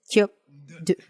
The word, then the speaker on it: skyob 'dod: Pero el segundo, por cierto, una prenasal fuerte tradicionalmente aquí. Repiten. En realidad es kyop-du.